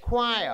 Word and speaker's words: choir: Choir.